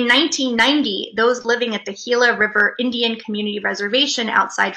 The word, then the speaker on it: Gila: It's spelled with a G, so it looks like Gila River, but it's pronounced Gila River, is right up at the top.